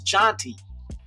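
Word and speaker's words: Jeanty: And I definitely I don't know any Genties, but I know the way it's supposed to be pronounced is janty.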